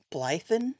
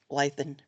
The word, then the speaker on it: Blethyn: I really love the character of Vera that's portrayed by Brenda I think it's Blethyn is how you pronounce her last name. Yeah. Blethyn.